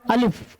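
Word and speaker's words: الف: जैसे खींचा हुआ है इसका नाम है अलिफ। क्या नाम है? अलिफ। तो इसको पढ़ते हैं। इसको बोलते हैं अलीिफ। लेकिन प्रोनाउंसिएशन जब किताब पढ़ेंगे ना जब उर्दू मिल मिल के जब कई लफ्ज जब मिल के बनेगा तो उसको आ का आवाज निकालेंगे। ठीक है ना?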